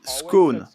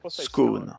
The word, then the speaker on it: scone: la prononciation de scone que ce soit scone qui rime avec G ou qui rime avec B est accepté bien que des variations régionales existent que pouvez-vous me dire